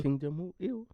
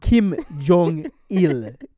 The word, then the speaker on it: Kim Jong Il: So King Jong Il. yeah, I hope I pronounced King Jong Il. Kim Jong Il.